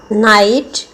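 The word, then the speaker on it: knight: नाइट, जी silent है, जी का उच्चारण नहीं हो रहा है।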